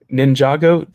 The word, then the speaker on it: Ninjago: Also, Matthew, how the F did you pronounce Ninjago correctly? No one ever does that. Ninjago?